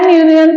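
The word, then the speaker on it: union: spelling य वर आहे पण युनियन युनियन यतो य आणि य म्हणजे इंग्लिश मध्ये वाय वाय हे व्यंजन आणि म्हणून तिकडे अ लागतो उच्चार काय होतो हे खूप महत्वाच आहे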